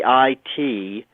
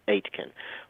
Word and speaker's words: Aitken: but it's spelled a a-i-t-k-e-n pronounced like the number eight and then ken as in your next of kin robert aitken robert aitken is a